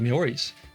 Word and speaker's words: Maori: It looks like they're in a world of hurt there, but these people called themselves the Maoris, which is pronounced Maoris.